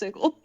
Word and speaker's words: Sigil: um is interesting yeah also it's pronounced sigle oh really no it is he's correct it's sigil pronounced Sig like word Sig but the name IND is sigle that makes my brain